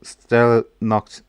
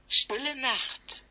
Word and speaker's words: Stille Nacht: So, what is the English name for the cow Stella Nacht? I'm just going to run that through Google Translate to make sure that the pronunciation is correct. Stille Nacht. Okay, it's slightly off, but hopefully you got that.